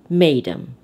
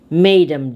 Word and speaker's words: mesdames: it in the past when it is a french word the terminal s is silent so mesdames read it madem madem davis and ford informally